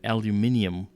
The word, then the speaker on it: aluminium: Well, yeah, they also have aluminium with extra. Aluminium? They add extra syllables there to aluminum.